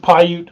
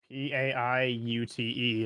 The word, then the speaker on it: Paiute: to spell the name of the tribe it's pronounced Paiute oh the you know the Paiute from Ohio Valley region I believe if I remember correctly it's it's p-i-a-u-t-e I'll put that I believe that's p-a-i-u-t-e is what I've got yeah that's what I